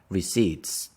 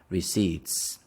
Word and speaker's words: receipts: the p is silence receipts we say receipts we don't pronounce the P receips what color are